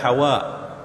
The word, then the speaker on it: Hawa: Ya, sebutan bahasa Arabnya adalah Hawa. Ya, Hawa artinya dengan huruf ha pedas. Siapa nama Siti Hawa tu betulkanlah ejaan dia. Bukan ha simpul ya. Ha, waw, alif, hamzah. Sebutannya Hawa. Ya, tapi biasalah orang Melayu